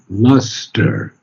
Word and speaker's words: lustre: It's pronounced like an ER, but it's the British spelling of luster. We would call it L-U-S-T, we would spell it L-U-S-T-E-R in America. But the British spell it L-U-S-T-R-E, so it's luster.